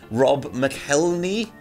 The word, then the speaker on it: Rob McElhenney: Another thing that got announced is Rock. I always get his name wrong. I said Rock. It's Rob. Rob McElhenney.